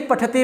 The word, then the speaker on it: पठति: करना है, ऐसे नहीं पठति, पठता, पठन्ति, ऐसे नहीं, वो गलत हो जाएगा फिर। पठति बहुत साफ बोलना है, बहुत साफ, ब्लेड की धार जैसा आपका उच्चारण होना चाहिए।